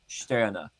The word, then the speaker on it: Stirner: I have oh no, it's not pronounced like that. I was told that it's pronounced Stirner.